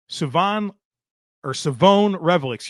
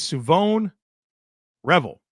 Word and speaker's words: Shavon Revel: All right, folks, let's get into this next prospect, and it will be Savon Revel, Savon Revel.